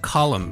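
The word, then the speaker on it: Colm: Now, I don't know if you noticed this, but it seems to be pronounced Column Meany.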